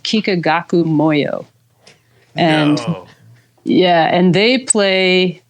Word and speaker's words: Kikagaku Moyo: So I always say, if you're a pedal person, go check out Kikagaku Moyo. It's, Kikagaku Moyo. it's Kikagaku, and then second word Moyo.